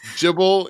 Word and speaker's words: JBL: He's made a deal with with Jibble and Ron Simmons. Jibble. Jibble. Not JBL. He He pronounces the acronym Jibble.